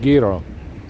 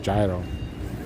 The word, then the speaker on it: gyro: to explain me that technically it it's pronounced Giro but American way to read this word is gyro so potato potato tomato